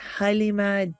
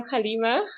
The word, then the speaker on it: Galeema: said, I'm Galeema, and I was just telling you how beautiful it is when it's pronounced properly, because it's spelled Galeema. So often people could say Galeema, which is fine, alhamdulillah, but it's so lovely to hear the correct pronunciation.